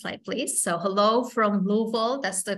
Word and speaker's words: Louisville: context so next slide please so hello from Louisville that's the correct way to say it by